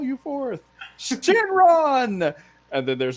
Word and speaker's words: Shenlong: Shenlong.